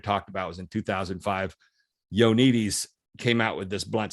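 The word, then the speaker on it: Ioannidis: upon misinformation in their everyday practice dr john yonitis that's the correct pronunciation dr john yonites has spent his career challenging his peers by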